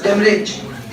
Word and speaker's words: demurrage: U is silent, you will pronounce it as demurrage.